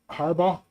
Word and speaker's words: Harbaugh: Harbaugh. Haba.